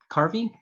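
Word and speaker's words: karvi: So a Carvey is how I will pronounce it. But a carve or a carfy, depending on your source, would have been what we recognize as a Yarls vessel.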